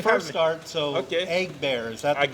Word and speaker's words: Agbere: Agbere, is that the Agbere. correct pronunciation? Agbere.